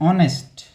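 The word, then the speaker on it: honest: से आ रहा है एच तो साइलेंट है समझ गए ना मेरी बात और यहां पे हमारा ए इ आई ओ यू है अगर मैं ऑनेस्ट पढ़ रहा हूं तो ओ तो ओ वाली साउंड आ रहा है ना ऑनेस्ट ऑनेस्ट एच गया भाड़ में ये साइलेंट है तो साइलेंट का भी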